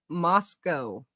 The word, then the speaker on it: Moscow: And I was like, oh, yeah, like cow. But then I was like, oh, wait, the whole point was to not say it like cow. Moscow.